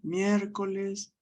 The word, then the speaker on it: miércoles: Y llevan tilde en la antepenúltima sílaba. Fíjense, murciélago, muérdago, miércoles.